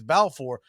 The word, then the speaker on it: Balfour: I don't know if the stories get better than Grant Balfour, or I'm sure he'd probably cuss at me and say it's Balfour, but the names take it up a notch.